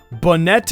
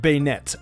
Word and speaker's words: Banette: strange ones because the s in the proper pronunciation sounds like a crud dilly instead of cradle II banette instead of beignet I had a really hard time distinguishing long